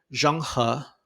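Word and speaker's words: Zheng He: It's between 1405 and 1433 that you have Chinese explorer Jang Ha, which thank you to your classmate who helped me learn how to pronounce that.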